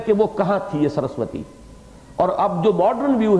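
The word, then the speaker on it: सरस्वती: یہ ان کی جو کتابیں ہیں مذہبی کتابیں، ان میں سرسوتی جسے ہم سرسوتی کہہ دیتے ہیں، اصل میں سرسوتی اس کا تلفظ ہے.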